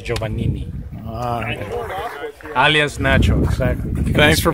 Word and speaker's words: Giovanini: name is and the other last name is joanin Alias nacho exactly thanks